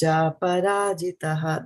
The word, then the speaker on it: cāparājitaḥ: It should be aparajitaḥ. Cāparājitaḥ.